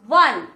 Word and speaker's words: one: o is pronounced as here the word is pronounced as one one means w so w in one we